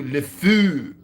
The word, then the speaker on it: le fou: The fou, le fou. That's how you say it in French.